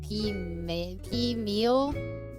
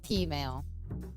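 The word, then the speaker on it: peameal: So it's like P-meal, but I think it's pronounced P-mail.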